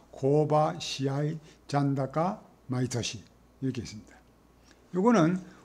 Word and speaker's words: 試合: 고바, 시압도 시고를 안 하고 시아이라고 읽습니다.